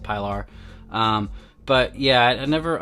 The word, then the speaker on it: Pilar: is my first uh piler piler pillar however the hell you want to pronounce it i pronounce it pylar um but yeah i